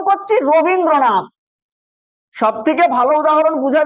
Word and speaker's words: রবীন্দ্রনাথ: এই রবীন্দ্রনাথ উচ্চারণ করতে গিয়ে আমরা কেমন উচ্চারণ করছি না, র বিন দ্র নাথ, র বিন দ্র নাথ। এখানে র একটা অক্ষর, র একটা অক্ষর, বিন একটা অক্ষর, দ্র একটা অক্ষর, আর আর নাথটা একটা অক্ষর। তাহলে বর্ণ কি কি আমরা